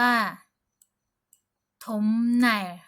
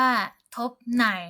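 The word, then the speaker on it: 톱날: จะ ออก เสียง ว่า ถม ไน ถม ไน ก็ คือ ใบ เลื่อย หรือ ว่า แผ่น เลื่อย นะ ฮ ตัว นี้ นะ คะ เรา จะ ไม่ ออก เสียง ว่า ทบ ไน นะ ฮ ทบ ใน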